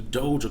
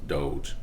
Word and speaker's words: Doge: should you dump your whole life savings into dojo coin dogecoin doggy corn whatever you call it it's actually pronounced doge for dog so this has been one of